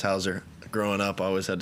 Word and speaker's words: Hauser: A lot of people say Hauser. I mean, it's pronounced Hauser.